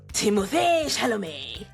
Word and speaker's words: Timothée Chalamet: a little pop culture corner and talk about Timothée Chalamet. That's the only way you can say it. No, that's the correct pronunciation. Timothée Chalamet.